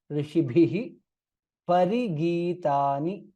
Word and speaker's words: ऋषिभिः परिगीतानि: kha विख्यातानि महात्मनः ऋषिभिः bha mahaprana there, ऋषिभिः parigītāni ऋषिभिः parigītāni, that's how it is pronounced.